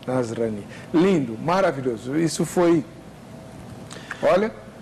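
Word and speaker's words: نصراني: Nazareno, mas como é que você pronunciou em árabe? Nasrani. Isso. Nasrani.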